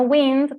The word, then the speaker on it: wind: No wind, porque eso sería viento, la pronunciación es wind, entonces ahí la diferenciamos, ¿sí?